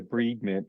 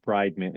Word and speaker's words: debridement: for debr M procedures I had no idea what the breed meant and I didn't even realize I was saying it wrong the bride meant is what I was